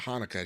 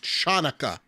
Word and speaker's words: Hanukkah: chanukkah oh okay Hanukkah you can spell it with a CH and I remember one of my teachers she got very offended I called it Hanukkah she got at me she's like it's chanukkah oh my God and I'll